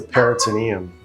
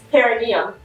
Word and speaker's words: perineum: What's the peritoneum? What's the peritoneum? It's perineum. You're You're saying it right. Perineum. You're just adding a T.